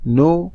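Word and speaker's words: know: डू यू नो who knocked at the door, नो का K और knocked का K दोनों साइलेंट लेटर्स हैं।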